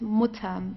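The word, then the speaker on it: Mutter: so the rules here if you have a double consonant like here theut what you have to do here is to pronounce the vowel right before that very briefly it's just the mut okay so it's not M or so it's mutam very very short okay D mutam the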